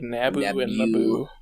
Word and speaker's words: Naboo: pronunciations of things yeah i was trying to think of a weird way to pronounce uh naboo but really it's just like naboo i like when people